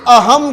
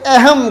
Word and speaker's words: اہم: ہے، یہ قاعدہ ہے۔ یعنی لفظ ہے اہم، اب اس پر زبر ہے، پہلے حرف پر زبر ہے، لیکن اس زبر کو لیٹا ہوا زبر کہا جاتا ہے، اور لیٹے ہوئے زبر کا مطلب ہے کہ اسے پورا زبر نہیں پڑھیں گے، ترچھا کر کے لٹا کر، یعنی اہم کہنے کی بجائے اسے اہم کہیں گے، اہم۔ اسی طرح محفل لفظ